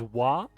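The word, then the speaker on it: は: So kind of like how we use wa or ha, and we say wa.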